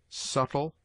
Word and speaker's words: subtle: It is mute in debt, debtor, subtle, doubt, lamb, limb, dumb, thumb, climb, comb, womb.